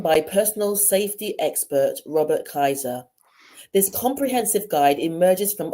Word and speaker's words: Kaiser: be talking to Robert ker have I pronounced your surname correctly Robert the with a German name so it's Kaiser but don't worry